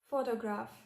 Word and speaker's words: photograph: A good example would be the word photograph. Photograph, where the first syllable is stressed.